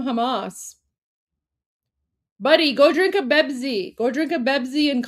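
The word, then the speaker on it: بيبسي: This is how Pepsi is pronounced in Arabic. It's Bebzi. So yeah, Bebzi's for Palestine. Well, like Bebzi. Just replace the P with the B, right?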